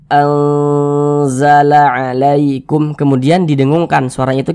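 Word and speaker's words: أنزل: Jangan dibaca anzala, jangan. Tapi kita baca anzala alaikum, kemudian didengungkan.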